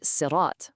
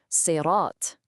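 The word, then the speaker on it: صراط: Now, a lot of us might instinctively say sirat with a light S sound, like the English word sir. But the letter here is not the light seen, it's the heavy sod. To say it right, your mouth has to get full and you produce this thick sound.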